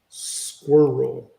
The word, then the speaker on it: squirrel: could be included but squirrel is intended to be pronounced as two syllables squirrel according to English dictionaries